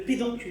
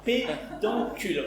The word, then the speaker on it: pédoncule: Tu vois le le pédoncule. Le pédoncule. Attention, prononce-le bien. Pédancule. On répète. Pédoncule.